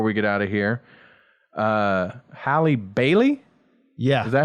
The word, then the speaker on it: Halle Bailey: And then the other thing I was going to mention before we get out of here, Halle Bailey?